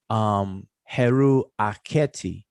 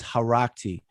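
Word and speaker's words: Heru Akhety: Remember, Heru dwells where Heru ends is Heru Aketi. People pronounce it as Harakti.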